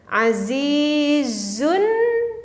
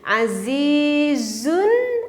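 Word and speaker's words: عزيزٌ: azizun Coba bareng-bareng ya kalau kita membacanya kita diteruskan bacanya Gimana azizun ada nun-nya terdengar sekali lagi azizun ada terdengar nun-nya ada ya azizun ala karena membacanya kita teruskan nun-nya tapak terdengar oleh kita menunjukkan ada tapi misalkan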